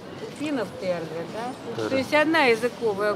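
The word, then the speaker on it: tere: Здрасте, это Тере. Финов Тере, да?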